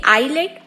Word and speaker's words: island: आज से हमें प्रण उठाना होगा कि हम बोलेंगे भी आइलैंड और लिखेंगे भी आइलैंड।